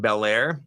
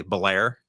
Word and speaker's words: Bel Air: Mozart and Wheeling, Bel Air, or as the locals say, Blair. Blair. But I would go with Bel Air.